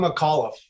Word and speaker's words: McAuliffe: Am I pronouncing that right, Vince? I'm McAuliffe.